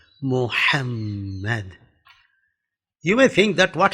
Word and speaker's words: Muhammad: They say Muhammad. It is not Muhammad, Muhammad.